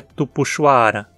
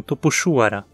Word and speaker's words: Tupuxuara: que temos em Tapejara então a pronúncia tupuxuara e não tô puxo hora tupuxuara lembre-se é uma palavra de origem Tupi o x entupir sua sempre como nunca como não podemos dizer tupixuara o correto é tupuxuara e se esse